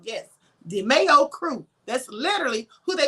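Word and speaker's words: DeMeo: Yes, it's called DeMayo. D-E-M-E-O, but it's pronounced DeMayo. Yes, DeMayo crew.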